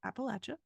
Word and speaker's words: Appalachia: issues she said it in Appalachia it is pronounced Appalachia and then she made painkiller drugs one of